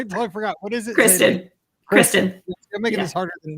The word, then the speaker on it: Kristin: You say it Kirsten, right? Kristin.